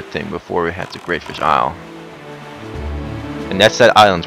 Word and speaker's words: Greatfish Isle: Well, some people call it Greatfish Isle, some people call it Greatfish Island. But the official pronunciation is Greatfish Isle.